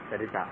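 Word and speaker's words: Saritha: Sarita. How do I spell it?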